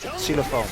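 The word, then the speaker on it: xylofoon: How do you pronounce xylophone in Dutch? Xylophone.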